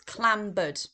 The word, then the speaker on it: clambered: Now, this on here isn't three syllables. I apologize. It's only two syllables. So, it's clambered.